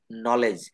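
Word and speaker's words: knee: নলেজ আমরা এটা প্রায় বলে থাকি, কিন্তু এটা বলতে হবে নলেজ।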